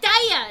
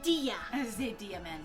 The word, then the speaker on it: Dia: it if you say your name wrong like daiya instead of diya diamond dmvn dmn at